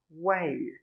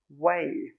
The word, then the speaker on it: whey: How do we pronounce this one? It's the same, way, way.